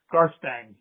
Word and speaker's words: Garstang: Just so that I have it right, your last name is pronounced Garang. Garbang. Yes. Mustang. All right. Cool. Only with gar.